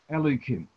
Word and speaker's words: Elokim: So then we pronounce it Elokim.